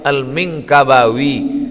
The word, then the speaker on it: al-Minangkabawi: Kakbah live awiyat 91 Omah tengok kapelan cara bacanya nih alif.lam.mim non Kakbah Libya rupanya lama terbaca almeng kabawi Minangkabau Syekh Ahmad Khatib al-minangkabawi nama dia Ahmad hotib